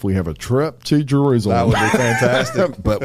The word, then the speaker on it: Jerusalem: said the Holy Land Jerusalem yep and I pronounced it right I used to say jerusalm and know Jerusalem yeah my mom went a couple times and